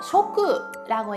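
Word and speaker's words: 食: 일본에서는 음덕으로 쇼크라고 읽어주는데요.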